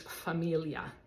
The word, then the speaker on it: famiglia: the word it it I always like to picture my tongue twisting just a little bit like B uh like